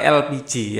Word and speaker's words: LPG: sekarang lebih membanyak pakai elpiji ya tulisannya LPG bacanya elpiji ya Liquid Petroleum gas